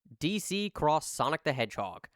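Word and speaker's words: DC X Sonic the Hedgehog: DC Cross Sonic the Hedgehog. Yes, the X is pronounced as cross.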